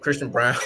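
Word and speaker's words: Christian Braun: Some other names on my list: so Hardy, Wesley, Christian Brown, spelled Braun, but Christian Brown, like he's pronounced Brown.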